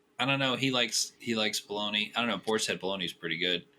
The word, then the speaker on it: Bologna: Bologna is how you say the region. It is called Bologna around the west of the world because nobody pronounces it correctly, but it is Bologna.